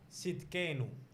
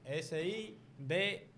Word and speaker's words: Sidkenu: Hay Hay uno que es cuando dice Jehová nuestra justicia en Jeremías 23:6, que está hablando de, se escribe Jehová Sidkenu. Esa es la forma. S-I-D-K-E-N-U.